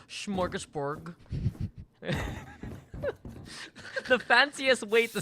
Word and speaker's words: smorgasbord: Oh, smorgasbord. Right. There's no H. So it's SMO.